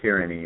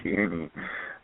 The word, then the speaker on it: Tierney: No, it's not Tyranny. It's Tierney.